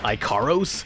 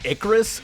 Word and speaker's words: Icarus: Icaros? As in Icarus?